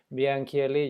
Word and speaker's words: meänkieli: So in this case, we're talking about meänkieli, you pronounced quite correctly, and it's a minority living in the border region between Finland and Sweden.